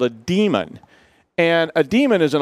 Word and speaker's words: daemon: something that's called a demon and a daemon is an old computer science term and it's spelled Dae mo in and sometimes people say daemon really shouldn't it's bad I know and it's